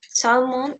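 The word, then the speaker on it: salmon: veggies this this one Salman is the correct pronunciation evil is Semillon Salman say mind I'm going to show you if there is not an L sound Salman Salman it else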